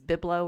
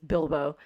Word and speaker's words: Bilbo: I missaid Bilbo for ages because I said it out loud to myself as Biblo or something. I don't know what I was oh thinking. And so getting the Hobbit's name right, it's Bilbo.